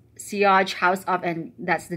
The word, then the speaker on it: Sillage: Okay, Sillage actually is the trail scent, or scent of trail, and it's pronounced as Sillage, S-E-E, and then A-A-G-H-E.